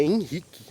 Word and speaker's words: Henrique: Isso pra mim foi o auge, porque tipo assim, independentemente se o nome da criança escreve Henrique com H ou sem H, é Henrique a pronunciação, não muda.